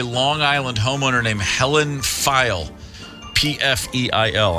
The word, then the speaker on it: Pfeil: 1964, a Long Island homeowner named Helen Pfeil, P-F-E-I-L. I'm going to pronounce that. Let's say Pfeil. Helen Pfeil. The P is not silent.